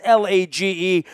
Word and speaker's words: Lage: That's Lage, rhymes with cage and page, and we welcome him in.